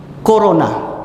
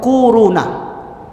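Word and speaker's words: كورونا: wow wow nah Hai korona bacanya tuh koruna akhir-akhir ini bukan Tibet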